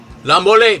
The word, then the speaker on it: La Mole: La Mole, but there's no accent on the E. It's the mole.